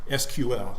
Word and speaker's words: SQL: And that comes down to understanding SQL or SQL, depending on how you first heard it pronounced.